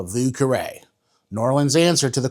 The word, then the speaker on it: Vieux Carré: It's one of my favorite cocktails, even though no one ever pronounces it right. Let's make a vuare.